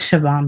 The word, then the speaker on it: Siobhan: But you know, I I It's Siobhan, by the way. Siobhan? Siobhan. Siobhan.